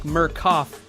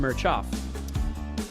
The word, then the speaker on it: Mirchoff: Spelled like Mirchoff, but pronounced Mirchoff.